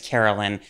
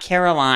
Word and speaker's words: Carolyn: spell carolyn out because every time i go to a coffee shop and i say my name is carolyn they always always write caroline and my name is not caroline i know and we